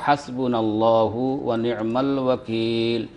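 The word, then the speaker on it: حسبنا الله ونعم الوكيل: আর আপনার 3 নম্বর প্রশ্ন ছিল হাসবুনাল্লাহু ওয়া নিয়মাল ওয়াকিল, নিয়মাল মাওলা ওয়া নিয়মান নাসির, কিভাবে উচ্চারণ করবেন আপনি শুনবার চাইতেছিলেন। তো হাসবুনাল্লাহু ওয়া নিয়মাল ওয়াকিল, নিয়মাল মাওলা ওয়া নিয়মান নাসির, এই হলো তার সঠিক উচ্চারণ।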